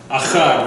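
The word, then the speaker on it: אחר: Achad, very good. Achad, everyone say achad. Achad. Get it to me. The silent. Aleph is silent. A. Bet. A. Resh. So, achad.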